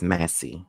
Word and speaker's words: Massey: the same exact way is it Sonia Macy or Massie please tell me if I'm saying it right I think it's Massie okay I so it's Massie okay so Sonia Massie